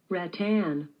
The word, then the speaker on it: rattan: oh sure like a ratton chair let's see how it's pronounced Rattan ow Rattan ratton sounds fancier I'm saying It My Way by the time